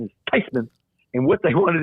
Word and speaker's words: Theismann: said um they want to change the pronun pronunciation of our name from thasan to tyman she says there I tell you this she says actually the correct pronunciation is tyman and what they wanted to do is closer